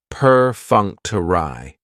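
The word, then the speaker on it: perfunctory: Prefuncter has four syllables and the stress is on that second syllable that funk. Perunctury. That third syllable has the schwa and it's going to end with that long e sound.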